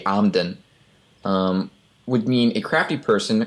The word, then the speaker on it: Emden: The E pronounced as an A as an and, so that would be Amden.